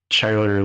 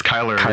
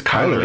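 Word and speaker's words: Chyler: uh he was one of the characters uh charler lee or Lei I don't remember how her name is pronounced um yeah it's Kyler oh it's Kyler okay Kyler Lee from Supergirl is on uh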